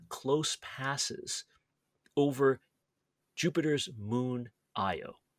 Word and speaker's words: Io: I mean, I suppose I should pronounce it Very fun. Io because that's kind of the more correct way, but we'll say Io Uh, for the heck of it.